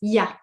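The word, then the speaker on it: il y a: Another interesting point is when you hear French people speaking, often ilya becomes ya ya. So it sounds like this word ya uh because when we speak fast we tend to shorten the word.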